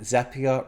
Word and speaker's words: Zapier: The easiest way to remember it is that Zapier rhymes with happier.